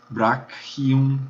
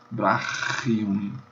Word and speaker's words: brachium: Ou você pronuncia isso como um K, brachium, o braço, brachium, ou pronuncia como CH alemão, que é o que mais comumente se faz, brachium, bem, brachium.